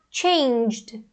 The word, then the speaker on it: changed: Então, a gente vai ter esse J, o J é uma consoante vozeada, então vai ficar changed, changed, changed.